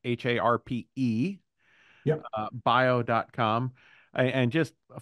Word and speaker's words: Harpe: It's harp with an E. The E is silent.